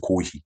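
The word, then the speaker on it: コーヒー: 그리고 어 코피 코 그래서 일본 애들은 고희라고 말면니다 고히 커피를 고희라고 그래요 어 코이 빨이고 다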